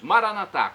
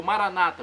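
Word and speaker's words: Maranatha: aramaico dialeto de Jesus maranat como dizemos nós católicos ou Maranata como dizem nossos irmãos separados os evangélicos ou protestantes não importa a pronúncia o significado é o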